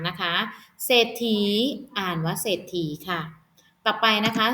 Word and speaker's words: เศรษฐี: อ่าน ว่า ศรัทธา นะ คะ เศรษฐี อ่าน ว่า เศรษฐี ค่ะ กลับ ไป นะ คะ สอเสือ ควบ กล้ำ